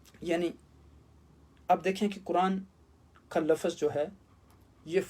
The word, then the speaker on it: قرآن: قرآن کا کیا معنی ہے۔ اب دیکھیں کہ قرآن کے اندر قرآن کا لفظ 60 مرتبہ استعمال